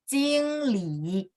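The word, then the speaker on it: 经理: Jingli.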